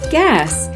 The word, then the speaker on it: guess: In the irregular word guess, the sound is spelled with a U and an E together. The heart reminds us that UE is an irregular spelling for the sound All right, word wizards,